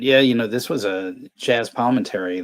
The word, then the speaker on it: Palminteri: Chaz Or pronounced Palminteri. like Palminteri, yeah, because he also did double duties too as De Niro, because he wrote and also acted in this movie.